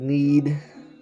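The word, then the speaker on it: Nied: Some Todd Van Poppel, David Need. That's how you pronounce his name.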